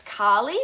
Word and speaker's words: Kali: There's also Goddess Kali, so it's spelled, I think, Kahli, and she is known to be the huge shake-up goddess.